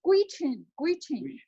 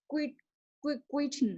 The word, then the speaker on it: Gwich'in: Okay, how to pronounce that? Which. It's Gwich'in. Yeah, Gwich'in.